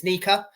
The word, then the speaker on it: Nyika: They would pronounce his name as Nyika.